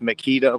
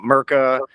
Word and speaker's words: Meketa: my name is Meketa, pronounced Meketa like the power tools, not Merca, not Meketa, not Meketa.